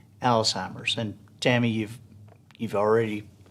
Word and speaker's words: Alzheimer's: that you hear mispronounced it's not old-timers right it's alzheimer's and tammy you've you've